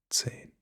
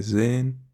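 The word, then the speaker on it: zehn: 10 same with why it's Zane not Zane if you say Zen people could misunderstand it to Zan which means to see to see with your eyes and this might lead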